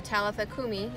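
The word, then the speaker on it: Talitha kumi: language that he was speaking it's intellithecom so talithakumi is that's how it's pronounced talifa kumi i just looked it up talithakumi means little girl arise so talitha is a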